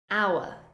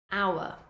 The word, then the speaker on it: hour: do not say how the H is completely silent hour hour honest honest ghost ghost